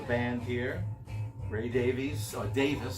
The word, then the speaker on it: Davies: member of the band here Ray Davies so Davis says he pronounces at a fish it's probably the English